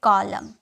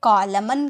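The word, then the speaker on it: column: नहीं करते वह है कॉलम कभी क्या आप इसे कॉलमन कहते हैं कॉलमन होता है नहीं कॉलम होता है यहां पर यह एन साइलेंट होता है इसे एन को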